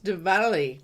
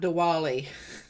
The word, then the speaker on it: Diwali: yes so so David it's Diwali not Diwali W is pronounced with v I understand okay yeah